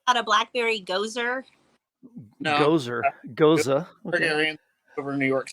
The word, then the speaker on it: Gose: Goza.